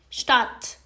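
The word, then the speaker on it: Stadt: براتون گذاشتم اولی دی شات دی شات بچه ها وقتی آ و د کنار هم هستن انگاری که د تلفظ نمیشه یعنی به گوش نمیاد وقتی که دارید بیانش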